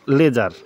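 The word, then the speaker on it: ledger: হচ্ছে এল ই ডি জি ই আর হুম লেজার যাকে বলে উচ্চারণটা হচ্ছে লেজার হ্যাঁ এল ই ডি জি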